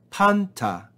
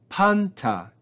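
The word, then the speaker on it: πάντα: verse two we then have panta panta and you can hear the acute accent we then have d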